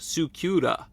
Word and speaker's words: Scylla: mythology well at least Sila seems to be the English aied version of the name in Japanese it's apparently pronounced sukura so if you want